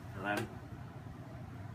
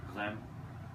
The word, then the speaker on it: Reims: Okay, what about R-E-I-M-S? How do you pronounce it? Rem. Say it again. Rem. Yes, that's the way it's done.